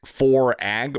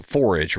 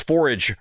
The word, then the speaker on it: 4AG: but it is pronounced 4AGE Robotics and if you're like me and you've been calling it for a in your head every time you read it uh that's okay too but it's forage robotics you might also know